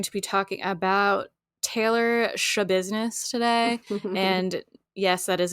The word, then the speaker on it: Schabusiness: name last name to shab business it's spelled s c h a b u s i n e s s it's like business with a shha the Stu if you're